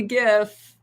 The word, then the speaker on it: GIF: like i pronounce it i say gif i'm sorry but just i know it's supposedly jif but it just sounds wrong that should be you know i don't know should be with the j is my opinion we'll leave it at